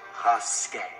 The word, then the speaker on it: Rasket: It's pronounced Rasket.